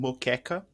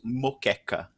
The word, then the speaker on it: moqueca: And to be fair, there is something called moqueca. Which is originally done with, it's made with fish, but there is a vegan version of it with hearts of palm, which is absolutely amazing. So it's called moqueca.